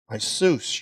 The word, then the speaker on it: Iesus: known to us through Isus, your servant. That's the Greek pronunciation.